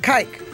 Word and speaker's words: Kike: I mean, in Kike, but it's spelled like kike, K-I-K-E, but it's pronounced Kike because it has a Spanish enunciation.